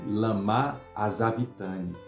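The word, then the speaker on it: lama sabachthani: essa palavra aqui então Qual é o certo é ele ele Lamar a sabe Tânia Essa é a pronúncia correta porque logo adiante as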